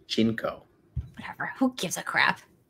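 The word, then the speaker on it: JNCO: Yes, and I used to wear Janko jeans. Really? And they're crop. Pronounced Jinko.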